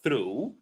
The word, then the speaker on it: through: So through uh though, thought.